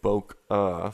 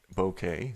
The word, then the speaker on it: bokeh: panel i pronounced it boca for years and years and then was corrected that it was bokeh so um don't judge i had no idea but it's a japanese word that is it talks